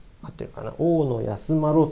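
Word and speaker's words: 太安万侶: 編纂した人は待ってるから太安万侶というかですねはいこれ一文字で oo のと呼びます太安万侶それからえっちょ日本ショッピを編纂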